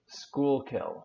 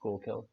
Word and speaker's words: Schuylkill: Schoolkill. Okay. Schuylkill. I was close. Schoolkill.